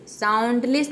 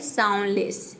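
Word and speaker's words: soundless: यानी कि दादी जी यहां प देखिए साउंडलेस साउंडलेस नहीं होता है ये होता है साउंडलेस साउंड लेस D silent है आप समझ गए कि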